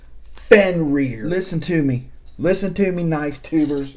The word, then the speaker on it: Fenrir: And by the way, it's pronounced Fenrir. Listen to me, knife tubers. It's Fenrir. Like a rear end. Your backside.